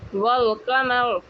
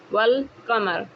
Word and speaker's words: والقمر: تلفظ ہوتا ہے، جیسے والقمر۔ آپ دیکھ رہے ہو کہ والقمر میں الف سائلنٹ ہے اور واو کو لام کے ساتھ مل کر پڑھا جا رہا ہے، والقمر۔ آپ کو پتہ لگ